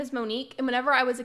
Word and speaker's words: Monique: cat Viller I just saw her name is Mo'Nique and whenever I was a kid like playing